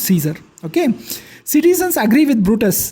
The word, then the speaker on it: Caesar: So if you read according to the spelling, it's Caesar actually. Cae is K, Sar is Zar, Caesar, but it's pronounced Caesar.